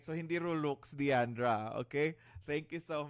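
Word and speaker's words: rouleaux: All right, so hindi Rolux, Diandra. Okay, thank you so much. All right, so hindi Rolux. Please do not be like your forebearers. Okay, they would often pronounce it as Roluk.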